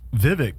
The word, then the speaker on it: Vivek: uh before we get into that though uh Vivek or Vivek how do you pronounce his name I mean that that dude was on point oh Vivek uh Swami yeah and he's I want to